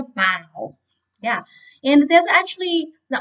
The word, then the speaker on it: bao: like meat and vegetables it's pronounced like a bow yeah and there's actually